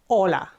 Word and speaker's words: hola: the letter G okay H in Spanish is always silent okay so if you